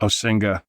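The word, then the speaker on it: Osinga: it with me literally everywhere how do you pronounce the author's name again o Singa yeah fron oing s yeah science strategy and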